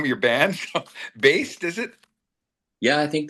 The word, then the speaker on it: Baest: So, Baest, is it? Yeah, I think that's a very good pronunciation.